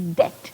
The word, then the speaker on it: debt: This is debt. The B is silent.